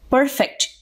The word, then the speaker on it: perfect: In the last sentence, perfect functions as an adjective, so it is stressed on the first syllable.